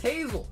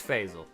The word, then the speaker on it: Faisal: Last time you told me it's pronounced Hazel. Now you're saying it's pronounced like Faisal. Which one is it? We got Faisal with the Iono Belly Bolt Premium Collection. Ooh. Ooh. I said Hazel with an F? Okay, so it is Faisal.